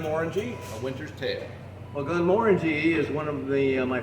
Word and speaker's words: Glenmorangie: a winter's tale well glenmorangie is one of the my favorite highland distilleries and it's actually pronounced with the emphasis on the second syllable glenmorangie and uh it comes